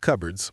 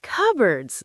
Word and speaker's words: cupboard: Anna, my kitchen has a lot of cupboards. Cupboards. That's a strange word if you look at how it's spelled.